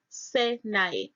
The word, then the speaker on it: Sinai: The name Sinai is found in Strong's H5514 and pronounced there as Sinai. It is spelled Samek Yod Nun Yod, which is Syny.